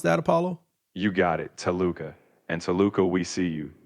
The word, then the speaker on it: Toluca: t o l u c a. Is that how you pronounce that, Apollo? You got it, Toluca.